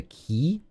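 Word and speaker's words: Quy: are three islands which are run by the key the it's spelled quu Y and they're based the the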